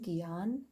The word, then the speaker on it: gyan: divine then we've got gyan yoga g-y-a-n giyan that's how it's pronounced and it means wisdom